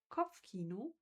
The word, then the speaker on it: Kopfkino: The German word pronounced is Kopfkino.